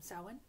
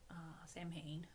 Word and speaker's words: Samhain: So if you celebrate Samhain, Samhain, for us non-Celtic speakers, it's spelt Samhain.